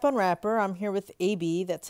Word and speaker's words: Abi: I'm here with AB, that's how it's pronounced, and I'm gonna show you how to get through chapter one, Two Friends, and chapter two, Bronzeburg.